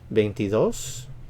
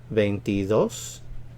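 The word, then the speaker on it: veintidós: together ventino ventino paintidos ventidos stress on the last syllable ventidos ventidos venti tres venti tres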